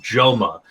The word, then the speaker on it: JXMA: Oh, and there's also this fucking guy called Joma. It's spelled JXMA, and it's just really emo, sad kind of rap stuff.